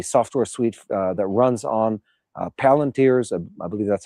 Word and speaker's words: Palantir: They're using a software suite that runs on Palantir's, I believe that's how it's pronounced, AI suite.